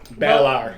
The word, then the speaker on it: Balar: Twinklet Ozies asked, is that baller or baller? Balar. Balar. He is a baller, but we'll get into that later. Balar is how I pronounce it.